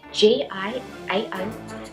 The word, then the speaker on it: Giao: Hey everybody, I'm Giao and welcome to my channel. Hey everybody, I'm Giao and I'm an artist. My name is spelled G-I-A-O but pronounced as Giao.